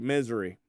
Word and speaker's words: Missouri: Missouri. Misery. Yeah. Is how they pronounce that.